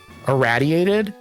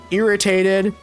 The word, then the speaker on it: irraddyated: Uh, people pronounce my name wrong. Like, radiated is how my I I is sort of like my intention. Iradiated. Um, ordated also. It's it's a play on the word, but I've I've heard so many words. I've heard irritated.